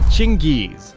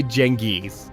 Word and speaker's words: Genghis: Some say Chinggis, others say Genghis, and a few people out there are probably still calling him Greg.